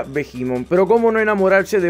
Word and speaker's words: Behemoth: mi favorito es el vemon pobre Steven qué obsesión Bueno de hecho se pronuncia bimon pero Cómo no enamorarse